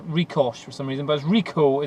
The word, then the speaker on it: Ricoh: for some reason buzz reco is how you pronounce it we go into theta